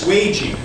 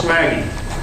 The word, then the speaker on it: swaging: which was, now I was told this is pronounced swaging. It's not pronounced swagging.